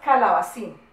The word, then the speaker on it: calabacín: Vamos a coger unas palabritas y las vamos a separar en sílabas y vamos a encerrar la sílaba acentuada. ¿Listo? La primera palabrita es calabacín.